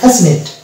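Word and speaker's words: fascinate: তারপরে চলে যাব ফ্যাসিনেট, এখানে দেখতে পাচ্ছি এসসি, এসসি এর পরে আছে আই, এই যে আই, অতএব এখানে সি সাইলেন্ট হয়ে যাবে এবং এটা চলে যাবে ফ্যাসিনেট।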